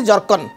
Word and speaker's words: zircon: हाँ लिखि दिंतु white जर्कन WHIT white WHIT जर्कन ZIRCON actually spelling तार जिर्कन ताको जर्कन कहा जाए जिर्कन व्हाइट जर्कन आपण 6